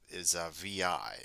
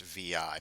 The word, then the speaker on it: vi: page over there, and that's actually pronounced VI. People don't call it Vi. Well, some people do, but it's generally it's going to be pronounced VI.